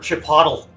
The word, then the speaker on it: Chipotle: He's like, "I want chipotle." They're like, "Oh, you mean Chipotle?" He's like, "Is that how it's pronounced?"